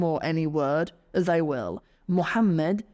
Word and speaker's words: Muhammad: Muhammad will become Imhammed.